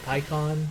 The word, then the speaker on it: pecan: The pecan pecan in me is too strong. Pykon is the correct way of saying why Pykon name.